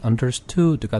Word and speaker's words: understood: 그 다음에 understand, 이해하다의 과거형이 understood가 되는데 이 발음도 would 이렇게 길게 하지 마시고 약한 으 발음으로 하시면 됩니다.